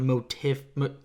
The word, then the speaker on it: motif: The motif, fucking whatever. Motif. That's a dumb word for me. Okay. Because it's spelled tiff, but it's teeth.